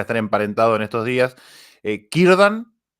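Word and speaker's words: Círdan: emparentados en estos días kirdan que empieza con c pero sonaría como con k y kb bien keleb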